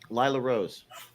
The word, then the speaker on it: Lila Rose: The first one is her name pronounced Lila Rose? Is that Lila's how she's pronounced? Lila Rose.